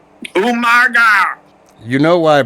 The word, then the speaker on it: Umaga: It was the Battle of the Monsters as Umanga. Umaga. You know why I pronounced it like that?